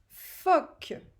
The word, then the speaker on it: phoque: Troisième mot, c'est le mot phoque. Phoque. Alors, phoque. On entend quel son consonne dans phoque? On entend le F écrit PH.